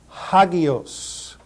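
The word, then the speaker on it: ἅγιος: a rough breathing Mark so we will put an H sound in front of the pronunciation of this word hagios hagos hagios I I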